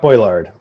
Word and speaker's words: Brouillard: artist you uh brought on board uh scott brouillard or how do you did i pronounce that right scott boylard boylard thank you sorry scott but uh he